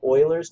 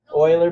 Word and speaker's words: Euler: this year is called Euler's number euler believe it or not you'd think that's that spelled with an O Euler right but it actually starts with an e the guys name was